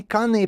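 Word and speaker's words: kāne: leader uh tutu kane kane pronounced kane means male or man in hawaiian tutu means uh female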